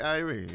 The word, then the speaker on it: Irae: Very special guest in Ashley Irene. Is that is that how you pronounce it? I Yeah, I love that. So my middle name is Ray, so that's why you spell it that way.